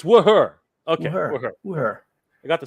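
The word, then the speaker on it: Wuher: It's Wooher.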